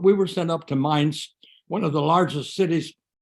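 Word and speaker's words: Mainz: into the city of Maine's and um is is that how we pronounce it the city of Minds mines my apologies mines can you take us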